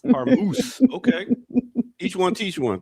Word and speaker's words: Hormuz: Renee, what is the latest coming out of the Strait of Hamas, as Ear Doctor say?